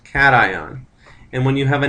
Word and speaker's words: cation: that as a cation it's not pronounced casan it's pronounced cation and when you have